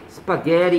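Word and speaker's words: spaghetti: 파스타, 스파게티, 스파게리 이렇게 발음하죠. T 발음이 R로 바뀌어요.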